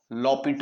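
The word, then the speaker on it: L'Hôpital: करेंगे एल होपिटल rule लपट rule spelling इसके हॉस्पिटल के ही है हॉस्पिटल रूल ये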